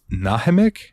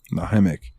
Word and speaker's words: Nahimic: have the windows and I think it's pronounced nahimic it's n a m i c nahimic it's a sound driver